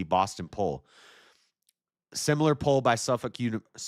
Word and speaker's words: Suffolk: Similar poll by Suffolk. It's pronounced Suffolk.